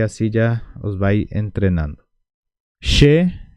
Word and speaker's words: che: os va entrenando She She se pronuncia de esta manera She como si fuera con sh h no confundan porque para los que hablan español la letra ch se pronuncia Che pero no es Che se pronuncia She Porque después vamos a